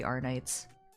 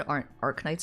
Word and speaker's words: Arknights: I'm too used to it, and I'm old, so the K in Arc is silent, but the K in Knights isn't.